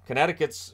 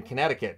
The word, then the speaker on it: Connecticut: governor agrees with you Connecticut's governor and I always always forget the C in Connecticut because there's three C's in it that second one is silent and it just throws